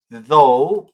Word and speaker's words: though: Se pronuncia though, pero se escribe t h o u g h.